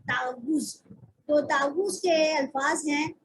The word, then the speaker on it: تعوذ: ہے وہ ہے تعوذ۔ یہ لفظ ہے تعوذ، اس کو تعوذ نہیں پڑھنا، ٹھیک ہے، اس کا اصل تلفظ ہے تعوذ۔ تو تعوذ کے الفاظ